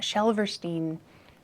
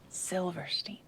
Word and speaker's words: Silverstein: Not Shelverstein, Silverstein.